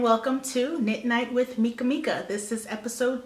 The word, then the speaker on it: Mekamika: I also have an Etsy shop called Mekamika, which is M-E-K-A-M-I-K-A. A lot of people confuse it. They misspell it a little, mispronounce it. It's just Mekamika, play on my name.